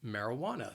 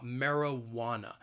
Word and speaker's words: marijuana: it's it's called marijuana the word has four syllables and the stress is on that third syllable it that wah-wah marijuana so say this word with me I'll say it slowly marijuana that second and four syllable you hear that schwa that marijuana so keep in mind that the spelling is nothing like the pronunciation that third syllable that